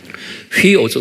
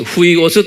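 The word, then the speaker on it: υἱός: 휘오스, 후이오스 또는 휘오스라고 휘를 후이라고 제가 가끔가다 여러분들에 말하죠. 정확한 발음은 휘오스.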